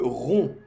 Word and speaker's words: romps: Je romps, je romps. Solo esta partida se pronuncia como aquí, como aquí. Je romps. PS no se pronuncia.